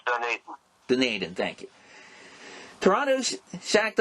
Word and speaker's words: Dunedin: spell it, Eric, so I don't butcher the pronunciation. It's Dunedin, Florida. It's Dunedin.